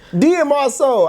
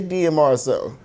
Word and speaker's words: DMRSOUL: the word, it says DMRSOUL. Can you pronounce DMR together? Demur. No. We're not doing that. It's DMRSOUL. That's it. Everything. DMRSOUL. It ain't even complicated. You better not call me D Mr. Soul.